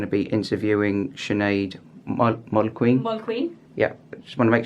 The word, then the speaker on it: Mulqueen: Mulqueen. Yeah, just want to make sure that I get that get the pronunciation right.